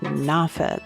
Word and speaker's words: Norfolk: It's spelled Norfolk, but I've been instructed to pronounce it Norfolk, though really people from different parts of the city say it different ways.